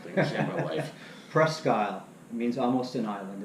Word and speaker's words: Presque Isle: I can't pronounce that thing. I've seen my life. Presque Isle.